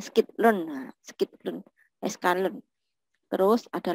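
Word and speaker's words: scikit-learn: Tapi bacanya skitlearn, nah, skitlearn, sklearn.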